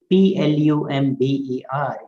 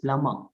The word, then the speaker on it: plumber: tsunami t is silent p l u m b e r is not plumber it is plummer v is silent so